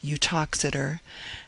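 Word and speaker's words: Uttoxeter: Boswell, I think, speaks of the town, its name is pronounced Utoxider, as being about nine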